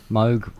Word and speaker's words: Moog: Moog rhymes with Vogue.